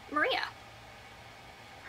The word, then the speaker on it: Maria: her name oh gosh Maria her name was Maria another Maria anyway her dad was sort of an astronomer stargazer type map maker that's it oh and her name is pronounced Mariah it even specifies here